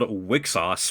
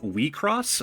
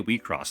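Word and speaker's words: WIXOSS: See, I wanted to say it's called Wixos, which just sounds weird. I did find a how to pronounce thing, which is going to be here on screen. So, I'm going to be calling it Wcross.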